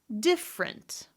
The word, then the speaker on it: different: What about words where I could have 3 syllables or 2 syllables? Again, it's the question of schwa or no schwa. I'm going to go down the list. Different. Company. Family. Remember, both of these are correct.